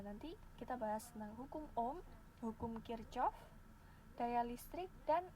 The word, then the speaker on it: Ohm: Bacanya biasa saja ya, Ohm. Bukan Mbak, Ohm. Biasa saja bacanya.